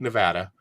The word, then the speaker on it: Nevada: Yep, it's spelled just like Nevada. But it's called Nevada.